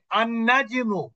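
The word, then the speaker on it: النجم: তা শামসি যেমন দেখেন এখানে আন্নাজিমু, এখানে নুনটা কিন্তু শামসি অক্ষর। এই জন্য এখানে মাঝখানে যে লামটা আছে, এই লামটা কি হলো, সাইলেন্ট থাকলো, লামটা অনুচ্চারিত থাকলো।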